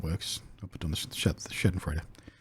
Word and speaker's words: Schadenfreude: I'll put on the Schadenfreude. Schadenfreude.